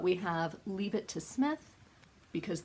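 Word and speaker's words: Psmith: have Leave It to Smith, because the P is silent like in Delaware.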